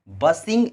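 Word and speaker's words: bustling: फिर आपका एक वर्ड है, बहुत ही प्यारा वर्ड है, बसिंग अबाउट। ये वर्ड जो है यहाँ पे एल जो होता है साइलेंट हो जाता है, बसिंग अबाउट या बस्टलिंग अबाउट भी बोल सकते हैं।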